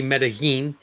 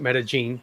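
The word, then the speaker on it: Medellín: hope I am because it could be Medellin, but I think they pronounce it Medellin. If I'm not saying it wrong, because I think they say it slightly different in Colombia.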